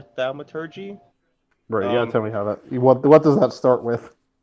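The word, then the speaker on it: thaumaturgy: t flings can trip i believe it's pronounced thalma turkey or thalmaturgy what does that start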